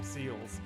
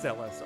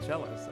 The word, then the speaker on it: Celes: and it completely debunks my pronunciation as a child of c-e-l-e-s being seals and i was always like all seals are such a great character but it's celeste or even cellos that's cool okay uh